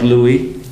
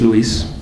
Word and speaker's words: Luis: hear my name anyway it is pronounced I like Louie my name is Luis and I'm gonna play